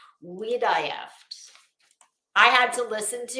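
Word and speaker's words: Wiederhoeft: pronounce this w-i-e-d-e-r-h-o-e-f-t well unless you said we'd die after then you would be wrong we die after I had to listen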